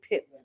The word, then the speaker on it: Pitts: But I realized quite quickly that I was pronouncing his name wrong, and it's actually Pitts. It's not Putz, guys.